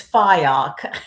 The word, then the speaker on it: Fyock: It's Fyock. Fyock. Okay. I apologize. Fyock.